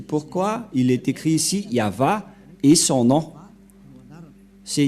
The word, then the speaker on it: YAHVAH: dire non c'est pourquoi il est écrit ici yava et son nom c'est yava son nom et vous voyez que même les